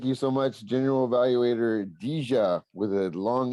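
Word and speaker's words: Dejah: name it is spelled d-e-j-a-h and it's got a long e so it's I like to say it's like Dijon mustard so you say dija instead of a lot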